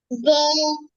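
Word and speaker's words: ظ: জো হ্যাঁ, এই তো সুন্দর হয়েছে, আবার বলেন। জো হ্যাঁ, এটা কোন জায়গা থেকে উচ্চারণ হবে বলেন দিনে? সেটা জিহ্বার আগার উপরে সামনে দুই দাঁতের আগার সঙ্গে লাগে এই তো সুন্দর হয়েছে, গুড।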